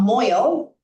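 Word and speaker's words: mohel: A moil, which is spelled out M-O-A-G-L, is a person who does the circumcision.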